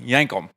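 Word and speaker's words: Yankum: t-shirts if anybody's wondering what yank them how to spell it it's y-a-n-k-u-m it's literally yank them yank them custom tackle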